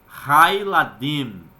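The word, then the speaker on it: הַיְלָדִים: Agora, com o artigo definido, nós temos Hailadim, as crianças. Perceba que o Shevá de Eladim, pela regra, né? Ele torna-se mudo. Então você não vai mais pronunciá-lo. E sim passa, né, a ser Hailadim.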